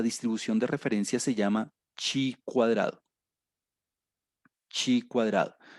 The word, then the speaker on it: chi: Otra manera de pronunciarlo a veces es ji. Yo estoy ya muy acostumbrado a decir chi, entonces la letra chi cuadrado.